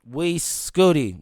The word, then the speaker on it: Uy Scuti: We Scooty. The biggest star in the universe. That's how you pronounce it.